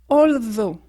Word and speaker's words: although: à connaître although although là tu remarques le TH il y a deux manières de le prononcer en anglais tu pourras regarder ma vidéo soit on fait comme si on zoosotait avec un S through soit on fait comme si en zoosotait avec un Z although though ou donut là